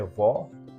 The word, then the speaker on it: vó: tônica aqui é vó o assento gráfico é o assento agudo que indica que o timbre desse o aqui é aberto porém se eu pronunciar a palavra avô eu vou colocar o acento circunflexo logo eu sei que o timbre da letra O neste exemplo é um timbre fechado o então o acento